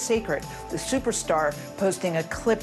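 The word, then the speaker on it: Cécred: It's spelled C-E-C-R-E-D, but pronounced Sacred.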